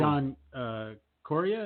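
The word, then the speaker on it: John Correia: John Coria? Is that how you say it? That's it. Yep, that's it.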